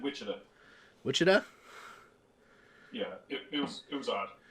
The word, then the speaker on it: Wichita: Wichita, that's right. How do you guys say it? What did I say? Did I say something different? I don't think so. You for sure said Wichita.